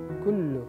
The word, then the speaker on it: كل: كل عام here عين. كل عندنا كاف and قاف again. It's not قل.